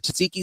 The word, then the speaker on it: tzatziki: I like the I'm like, can you throw a little extra tzatziki sauce on there?